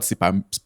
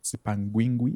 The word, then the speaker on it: Sipangwingwi: And then he also had Sipangwi I keep saying it wrong Sipangwi Sipangwingwi.